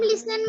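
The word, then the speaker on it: listen: Ma'am लिसन में टी and talking में एल।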